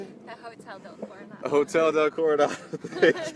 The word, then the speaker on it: Hotel del Coronado: We're at the Coronado del Hotel. Is that how you say it? The Hotel del Coronado.